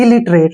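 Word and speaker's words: illiterate: टी को ट लिखेंगे ई का प्रोनाउंस हम नहीं करेंगे इलिटरेट हो ग ना आसान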